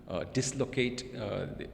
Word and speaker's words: dislocate: For instance, bicycle, dislocate, it's stressed. The by is a prefix, so is dis, and they both are stressed.